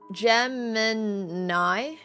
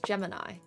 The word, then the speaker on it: Gemini: So, Gemmini. Gemmini. What? I'm pretty sure I've heard Samsung pronounce their AI app. And it's Gemini.